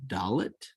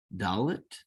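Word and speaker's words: דלת: After that, we have Dalet. Dalet. D as in door.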